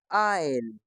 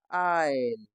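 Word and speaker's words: aisle: तो ए आई एस एल ई इसको हम पढ़ते हैं आईल। कैसे पढ़ते हैं हम इसको? आईल।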